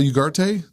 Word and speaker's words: Ugarte: It's Giselle Ugarte.